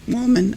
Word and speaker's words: Woolman: Woolman.